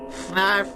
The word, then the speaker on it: Fanarf: Fanarf rhymes with barf.